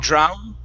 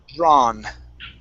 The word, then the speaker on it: drawn: Okay, yeah, so Were instead of drown, Mm. and adding that oo, okay, it's only an ah. You said it right the first time, and then you corrected yourself out of the correct pronunciation. So it's drawn. Drawn.